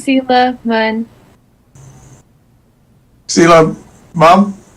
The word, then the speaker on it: Mun: It's Stella Mom. Is she here? Can you help? Hi, it's Sela Mun. Stella Mom? Mun, H is silent.